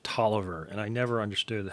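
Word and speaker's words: Taliaferro: a totally weird thing his name is spelled t-a-l-i-a-f-e-r-r-o but they always pronounce it Toliver and I never understood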